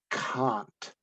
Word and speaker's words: Kant: emmanuel kant and it's very important that you pronounce his name properly it is kant uh emmanuel kant argue